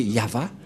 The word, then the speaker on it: Yahvah: nom de de yava et la prononciation de y h selon les ébreeues c'est yava et personne ne peut